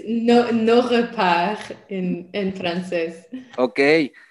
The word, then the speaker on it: Nos Repaires: llama Nuestras Guaridas, que si me ayudas a pronunciarlo en francés estaría genial para no verme mal. It's no repart en francés.